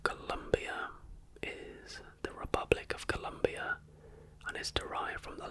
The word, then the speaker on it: Colombia: is the Republic of Colombia and is derived from the last name of explorer Christopher Columbus. The country's name is pronounced Colombia, not Colombia, which is a common mistake by non-Spanish speaking visitors.